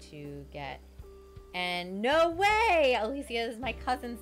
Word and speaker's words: Alicia: because my um like my name is spelled like alicia keys right a-l-i-c-i-a but then i pronounce it like uh the spanish way which is alicia and most people don't